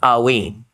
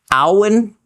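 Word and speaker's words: haüyne: And regarding the pronunciation of alwine, alwyn is another way that you will, or maybe could hear outside of me, it pronounced.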